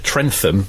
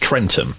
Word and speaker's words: Trentham: 100 uh they said trentham is not pronounced trentham it's pronounced trenum silent h and it's actually in